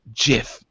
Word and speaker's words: GIF: a Tony Stark ghost it's pronounced jiff they like this stare